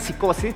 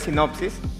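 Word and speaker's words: Synopsys: Eh, algunos creen que se pronuncia psicosis, pero en verdad es sinopsis.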